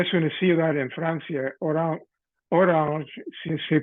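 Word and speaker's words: Orange: de orang que es una ciudad en Francia orang si se pronuncia quisiera que quiere decir cas una naranja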